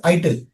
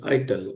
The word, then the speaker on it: ITIL: n years back they they removed this acronym and now it l is a word and that's why you know they stop pronouncing it as it now they called it as called it as ital it okay it